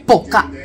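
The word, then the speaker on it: Bo-Kaap: Boca. That's how it's pronounced.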